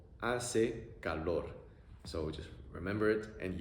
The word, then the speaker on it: hace calor: A-e-a-o, A-e-a-o, hace calor.